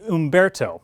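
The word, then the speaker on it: Humberto: take you ask well it would be Umberto that's how you pronounce that name by the way that's the H name the next two after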